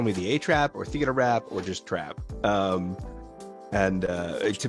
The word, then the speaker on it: Theatrrap: So that's where Theatrrap came from. But it actually, when I first started streaming, people were like, the A-Trap is how they would say my name.